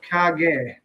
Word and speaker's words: kage: Black Country Koi says cage is pronounced Kage.